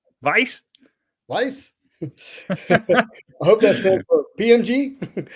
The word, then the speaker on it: Weiss: do you say that it's a german word no vice lice i hope that's